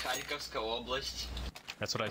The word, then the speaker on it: Kharkivska Oblast: Karivska Oblast Ukraine. That's terrible pronunciation, probably. It's Kharkivska Oblast.